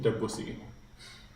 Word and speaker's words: Debussy: Debussy.